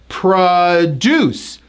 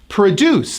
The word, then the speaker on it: produce: spelling of that word when you stress the first syllable it's pronounced as produce which is like fruits